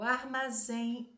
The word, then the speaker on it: armazém: O armazém está fechado. Armazém. Reparem que a última sílaba é a tônica e ela é terminada em EM. Portanto, ela é oxítona, terminada em EM, é acentuada.